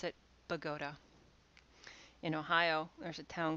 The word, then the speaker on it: Bogota: anybody else would look at and think it's bogota but they pronounce it pagoda in ohio there's a town called ashtabula which